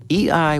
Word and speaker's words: eEye: EI was a cybersecurity company based in California. It's spelled EEYE, EI.